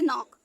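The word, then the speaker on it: knock: से पहले आया के जब भी एन से पहले के आएगा तो वो साइलेंट होगा तो इसको क्या पढ़ने हैं नाक ठीक एन से ना ओ से ओ फिर सी के मिल के का हो गए आगे भी बताया था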